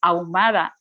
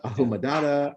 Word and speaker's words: Ahumada: of people, for them, it's more difficult to pronounce your surname. Yes, Ahumada. Sí, Ahumada. How would it be in English? Like, how they pronounce it? Ahumada. They pronounce it Ahumada, Ahumadada, Ahamahumahuma.